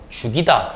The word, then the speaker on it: 죽이다: 쥐기다가 아니고 죽이다 이런 식으로 발음을 해줘야 된다는 거예요.